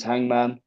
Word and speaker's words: H_ngm_n: The band name is Hangman. It's spelt without the A's. It's underscores instead of the A's.